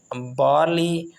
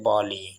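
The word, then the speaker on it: barley: यहाँ पर भी वही बात है, अमेरिकन में आर अगर आपने एक्सेंट प्रोनाउंसिएशन करना है अमेरिका में तो फिर आपने कहना है बार्ली, और अगर यूके ब्रिटिश का आप प्रोनाउंसिएशन देखें तो वहाँ पर है बाली, आर इज साइलेंट।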